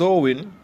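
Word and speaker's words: Samhain: modern times so in a Gaelic word pronounced Owen is usually celebrated on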